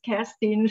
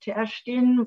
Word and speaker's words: Kerstin: So, in German it is Kerstin, but also I learned that Kerstin is originally from Sweden and would be pronounced Kerstin, but is much nicer.